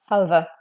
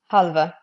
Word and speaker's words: half: Likewise, the L in the word like half or calf here, to have, as in to have something, a verb. You would pronounce this as halva. Halva.